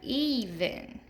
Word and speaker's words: even: You can hear that long E in the first syllable in both of these words. Fever and even.